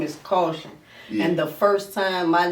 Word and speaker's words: Kausion: crazy it's caution it's spelled that way because the G that